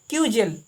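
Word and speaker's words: cudgel: क्रूजेल, जहाँ डी के बगल में जी हो तो वहाँ डी साइलेंट रहता है, उसको क्या पढ़ेंगे, क्यूजेल, छोटा या एवं मोटा डंडा।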